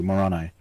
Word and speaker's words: Moroni: who invented the religion, is called Moroni, and pronounced that way too, Moroni.